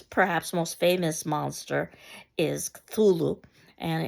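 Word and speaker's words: Cthulhu: most famous monster is thulu and it should be something that can't necessarily be pronounced with the human tongue so that's the closest that one could get to pronunciation of it um and it's this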